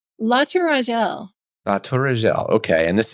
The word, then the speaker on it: La Tourangelle: this How is was that last one pronounced? La Tourangelle.